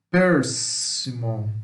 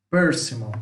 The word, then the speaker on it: persimmon: sua pronúncia tá bom aquela atenção que as primeiras sílabas são as mais fortes tá persimmon persimmon Natal começa mais forte Percival na proparoxítona tá o percimol persimmon tá bom nós temos